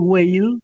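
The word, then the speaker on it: Weil: Ahí yo me inspiro, me inspiro en Simón Simone Wale, lo pronunciamos Whale. A ella la pronuncian we que que es muy conocida esta activista judía brillante gey. W e i l ella muy joven precisamente por por andar boicoteando, por ejemplo.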